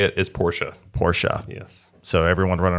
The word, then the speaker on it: Porsche: The correct way to say it is Porsche. Porsche. Yes. So everyone running around saying Porsche.